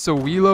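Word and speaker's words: Sowilo: the little backward Z this is pronounced so Welo or something like that and usually means something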